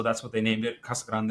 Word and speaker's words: Casa Grande: named it, Kasag Grande, if you want to say it properly. But Kasagrron works. We thought in Arizona, it's Cassag Grand. It's Cassagrand. Yeah, that's the other way you say it.